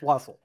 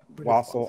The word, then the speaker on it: wassail: But it's pronounced wassail. I'm talking about pronunciation, not spelling. I know. Hang on. So, wassail or wassail, both are correct. Or wassail. Both are correct, actually.